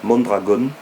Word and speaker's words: Mondragon: Mais vous savez, oui, vous pouvez vous renseigner sur Mondragon, alors ça s'écrit comme ça se prononce, Mondragon.